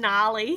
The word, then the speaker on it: gnarly: tree my favorite kind I also like saying gnarled and gnarly because they got a silent G and they're not the